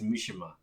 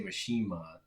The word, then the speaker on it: Mishima: yeah I think it's Mishima that sounds much more correct actually I've heard people say mashima but I think it's Mishima yeah yeah I think